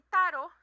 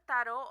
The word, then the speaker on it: tarot: certeza que temos aqui tarot é uma palavra francesa no qual o último T é mudo então por isso que